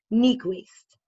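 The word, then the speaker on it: Niequist: is shauna s-h-a-u-n-a shawna nequest which is like i'll spell it for you n-i-e-q-i-s-t and um also another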